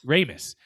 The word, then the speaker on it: Ramis: The film was written by Dan Akroyd and Harold Ramies. Is that how you say it? Ramos. Ramis and that they are the ones who play